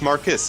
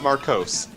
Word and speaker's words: Marcos: It's Marcus, not Marcos. Yes, it's Marcus I don't care if you Ambrose. spell it that way. It's Marcus.